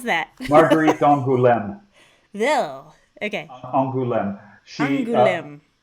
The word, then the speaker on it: Angoulême: How do you pronounce that? Marguerite d'Angoulême.